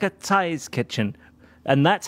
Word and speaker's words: Cai's: are people who say kai's kitchen turns out it's more like a t sound it isn't quite i know it isn't quite but it sort of sounds more like a thai's kitchen and that's how